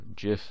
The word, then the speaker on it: GIF: GIF or GIF as some people pronounce it.